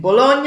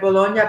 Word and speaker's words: Bologna: So there's no sound of leg. There's no leg. I thought that might be the case. Yeah, when you have GN together, it becomes like ña.